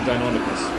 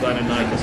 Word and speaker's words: Deinonychus: Also, they're actually Deinonychus, or Deinonychus, depending on how you pronounce it.